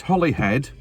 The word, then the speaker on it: Holyhead: called holy Island uh it's Holly head by the way you'll know or might